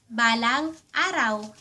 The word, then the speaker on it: balang araw: Someday Balang araw ba lang a raw Balang araw Halimbawa, "I know someday I'll be happy too."